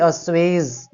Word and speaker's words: assuage: इसकी प्रोनाउंसिएशन होती है अस्वेज। अस्वेज इज द राइट प्रोनाउंसिएशन, ठीक है।